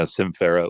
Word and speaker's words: Sym Fera: talking about are called simera is that the correct pronunciation yeah s Farah like Symphony and the word Ferell yeah feral Symphony I